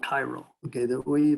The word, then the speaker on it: chiral: chiral so and that's not it looks like chiral that's called chiral okay that we pronounce this this word is is chiral okay